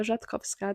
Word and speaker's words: Jatkoski: So my story is that my name is Jatkoski. That is how you pronounce my last name if you were wondering.